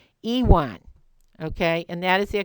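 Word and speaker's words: yuan: Japanese Etc but it's pronounced the yua is pronounced Ewan okay and that is their currency that is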